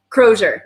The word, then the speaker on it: Crozier: So Crozier. Crozier. Yeah, that's how you say it.